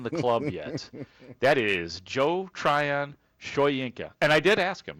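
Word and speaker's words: Joe Tryon-Shoyinka: and he said that Joe Tryion Showinka. Uh that is the way you say his name and here is what he sounds like as a Chicago Bear.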